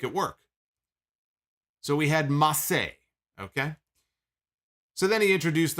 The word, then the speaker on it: Mace: his first client but mace is no longer mace oh no no mace is no longer mace mace is now massey so spelled the same way but it's now massey massey and he walked